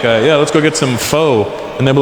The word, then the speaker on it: pho: It's spelled P-H-O. Pho. But it's not the way it's pronounced. And in America, people are annoying because I'll be like, yeah, let's go get some pho.